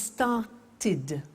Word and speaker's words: started: If a verb ends with a T or a D, then the pronunciation of ed becomes id. And in fact, it's impossible to pronounce it any other way.